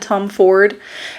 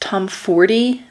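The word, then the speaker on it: Tomforde: I'm pretty sure I said Tom Ford because I've been saying Tom Ford in my brain this whole time. Per the narrators of the book, it's pronounced Tom Forty.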